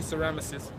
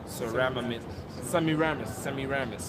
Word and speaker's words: Semiramis: I always say Ceramyces because it's easier for me to pronounce, but it's something like Semiramis, yeah.